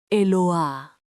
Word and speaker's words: Eloah: Quinto nombre, Eloah, pronuncia E-Lo-A.